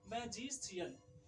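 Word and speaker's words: magician: अब है कि एम ए जी आई सी आई ए एन, मैजिशियन, तो इसमें भी आपको तालव्य स का उच्चारण आया, प्रोनाउंसिएशन आया मैजिशियन।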